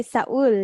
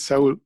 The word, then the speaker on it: Seoul: really difficult for me i know we say saul right yeah it's in spanish it's soul but most of the english speakers pronounce it like saul yeah how do you